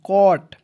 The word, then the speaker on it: caught: जैसे यहाँ पे CAUGHT कॉट। ठीक है, और दोस्तों इसमें आपको GH को साइलेंट करना है। ठीक है, जैसे सी का होता है क, AU है दोस्तों इसका उच्चारण औ के रूप में, और GH को साइलेंट कीजिएगा, टी को ट लिख दीजिएगा। क्या हो जाएगा दोस्तों? कॉट।